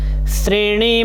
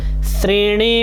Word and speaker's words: श्रेणी: है धनुर बान पासम श्रेण मप करतल श्रेणी मप जैसे वृक्ष लिखते हैं तो नीचे लगाते हैं री तो ्र री का उच्चारण करते हैं वैसे यहां पर श्रेणी स के नीचे ऋ लगा है तो श्रेण म